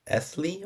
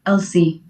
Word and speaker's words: Elsy: And before I pronounce it, is it Esley or how would I pronounce it? It's Elsie. Elsie.